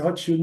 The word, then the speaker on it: Rothschild: Esses selos, segundo consta, foram emitidos, chama-se emissão Rothschild, pronúncia Rothschild mesmo, que era o banqueiro Rothschild famoso, né?